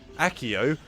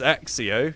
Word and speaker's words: Accio: Sure, they might have said the spell for I nearly said it wrong myself. Accio as Axio.